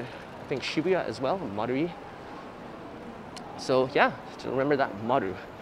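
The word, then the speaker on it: Marui: So how you pronounce it is Maru-i. You don't say Ichi, you cut it off at I, so Maru-i. So it's Namba, Maru-i. Yeah, Maru-i.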